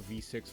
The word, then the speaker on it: VVVVVV: to say it uh the original intended pronunciation was v but i the creator said he likes that people don't know how they want to pronounce it um or like celeste